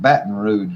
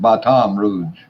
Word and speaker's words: Baton Rouge: Everybody else pronounces it Baton Rouge, but we pronounce it Baton Rouge.